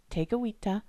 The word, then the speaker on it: Tekakwitha: For example, Saint Kateri Tekakwitha's name and that of her community, KAHNAWAKE, have Mohawk pronunciations with French spellings. So for English speakers, the important thing to remember is that the letter K gets a G sound.